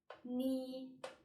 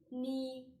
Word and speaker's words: 你: so it's a falling rising tone war war knee knee which tone third so falling rising term again